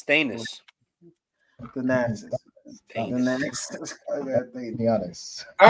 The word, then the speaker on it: Thanasis: Oh, no, it's Thanasis.